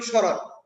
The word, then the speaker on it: স্মরণ: হয়ে যাবে তালব সর একই স্মরণ কিন্তু উচ্চারণ করি স্রণ কারণ যেকন স স্বাধীনভাবে থাকলে হয়ে যাবে তালব স তখন আমাদের লিখতে হবে স্রণ এইযে এতটুকু করে এরকম